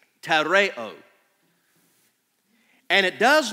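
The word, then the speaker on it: τηρέω: the Greek of the New Testament we would pronounce it tareo tareo and it does not mean listen carefully it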